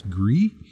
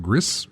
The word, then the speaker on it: Gris: playing, and I'm going to mispronounce it even though it is spelled Gris. I'm sure it's pronounced as Gree, but it is, I call it Gris. It is probably Gree.